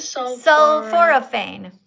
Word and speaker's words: Sulforaphane: Sulforaphane.